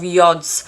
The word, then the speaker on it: yod: are two formations of yods and I was taught this was the Finger of God interestingly this is a Hebrew word meaning the hand of God and it's pronounced yod in astrology the yard